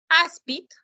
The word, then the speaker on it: áspid: Áspid se acentúa la penúltima sílaba, es una palabra grave.